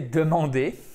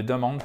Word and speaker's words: demand: par ied mende non on ne demande pas on demand non plus or c'est tim and accent tonique sur la voyelle et demand donc demandé en français